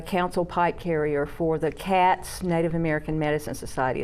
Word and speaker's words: XAT: And when I lived in Nashville, I was one of the ceremonial leaders and the council pipe carrier for the CATS, Native American Medicine Society. It's spelled XAT.